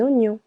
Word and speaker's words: oignon: La lau la laus un oignon here in French G and N together also letter I silent Oignon de l'ail de l'ail.